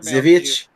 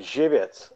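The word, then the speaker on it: Żywiec: Zivich or something? Zivitz. Zivitz? Yeah. Okay. Zivitz.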